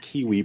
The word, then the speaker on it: KWE: She likes to pronounce it Kiwi Publishing.